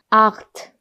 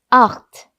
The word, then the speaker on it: acht: 그 다음 숫자 8. 숫자 8 같은 경우는 체하 발음 지난 시간에 했었죠. 아, 오, 우 뒤에 체가 오면 어떻게 소리가 난다고 했죠? 아, 오, 우 이렇게 소리가 난다 했습니다. 그래서 여기도 아 이렇게 읽으셔야 합니다.